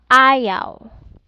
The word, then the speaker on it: ayaw: Here in A and W, pronounced like in the English word loud, proud, cow. For example, ayaw, okay, sabaw, okay, or dalaw, okay.